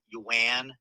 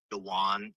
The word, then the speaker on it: yuan: Yeah, it's definitely AI because he he says uh yuan instead of yan like the Chinese currency.